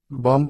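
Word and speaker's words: bomb: আসা টেক অর্থ নেওয়া এম প্লাস বি পর পর থাকলে এবং বি এর পর কোন ভোয়াল না থাকলে বি উচ্চারিত হয় না উদাহরণ বম অর্থ বোমা কম অর্থ চিরুনি চুম্বিয়ে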